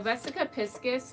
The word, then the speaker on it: vesica piscis: vesica piscus okay so vesica piskis which thank God I looked it up because I definitely did not know how to pronounce it um but so I